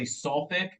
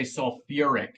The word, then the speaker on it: sulfuric: suide we go suic we don't say sulfi we say sulfuric now most people just